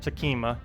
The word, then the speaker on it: Sekhma: missed so much uh the H is not a vow it should uh just be two syllables Sima I know I do say it like three syers for some reason Saka